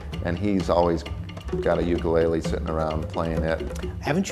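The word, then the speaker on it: ʻukulele: that that's not correct the Hawaiian correct pronunciation is ukulele put a little apostrophe in front of the U for that sound ukulele ukulele jumping flea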